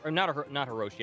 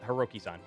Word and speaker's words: Hiroki: Not Hiroshi. I mispronounced Hiroki-san, and he confirmed that.